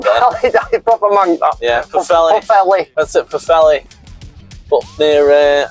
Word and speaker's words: Pwllheli: Pwllheli.